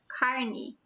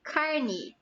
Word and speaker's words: carne: so in this context Carney means flesh uh the pronunciation can be carne as it is in my region or you can hear like a okay the flesh is